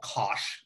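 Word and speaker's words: cosh: circle we call the hyperbolic cosine it's called kosh is how it's pronounced and this is the notation for y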